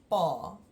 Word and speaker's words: Pa: my father is the first one which is bar and I know there's only one up after the P but we still pronounce it as a long or long a